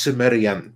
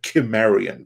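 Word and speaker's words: Cimmerian: it's the the um the technical pronunciation would be less Sumerian but it should be the the chimerian because that's what Coleman himself would have said uh can we say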